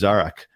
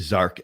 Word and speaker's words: Zarak: My name is Zarak, and I will work with you for you to learn how to say it over and over again until you get it right, you know, because I don't even resonate with Zark anymore.